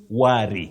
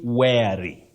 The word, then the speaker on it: wary: word for tonight Betty many people say worry don't say be worry you say wary wary not worry worry is w o